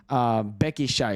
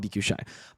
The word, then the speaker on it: BQ Shy: Becky Shy is how we're supposed to call his name, but it's weird. In Indo, it is Becky Shy. That's how you pronounce B and Q, but in English, it's BQ Shy.